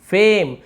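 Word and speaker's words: fame: देखिए लास्ट में ई को हम पढ़ नहीं रहे, केव, गेव, ट्रेस, फेम, किसी के एंड में ई नहीं पढ़ रहे हैं, रहने के लिए तो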